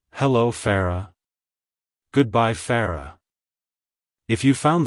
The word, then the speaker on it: Farrah: Joy it's pronounced as Farah Farah Farah to pronounce it correctly emphasize the fa and roll the r slightly it's a soft flowing pronunciation like hello Farah goodbye Farah if you